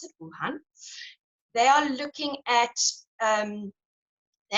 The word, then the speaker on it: Wuhan: Now, an interesting study that is currently happening in Wuhan, that's how I pronounce it, Wuhan.